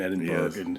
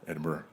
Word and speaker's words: Edinburgh: Irish fiddle tune um you're throwing the hard G in Edinburg yeah Edinburgh edin oh how do